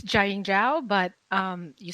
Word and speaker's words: Jiaying Zhao: just make say your name the way you pronounce it just so I hear it from you sure yeah I'm it's Jing Jiao but um you said it perfectly but I